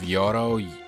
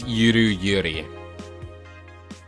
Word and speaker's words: Yuru Yuri: I was pronouncing it just Yoro Yore because I just assumed it was like, since it was anime, it was going by the Japanese vowel pronunciations. But no, it's just a spoof of Yuri Yuri.